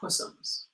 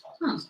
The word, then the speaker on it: Puzzums: Why would it be Puzzums, not Pussums? It's just how they pronounced it as Puzzums.